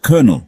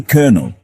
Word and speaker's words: colonel: us take the word Colonel for instance it looks like it should be pronounced colonel but it's actually kernel like seriously who thought